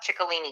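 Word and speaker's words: Ciccolini: it says CI CC a li ni yep chicolini cuz in Italian when you pronounce the CI it becomes oh I got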